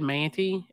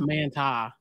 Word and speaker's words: Manti: Well, the Mormon word we messed up, we said Manti, and it's Manti. Oh, yeah.